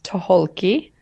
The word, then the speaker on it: Tucholke: pronounce your last name so it is toholki sohoki so if you look at this if you look at the spelling and cross out the C cross out the sea and pronounce all the letters I see it yeah